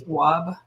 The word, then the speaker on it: Tawwab: That was something that I thought was um, interesting in reading Nedra's, pronounce her name for me, all the last name always get me. Tawwab, Nedra Tawwab.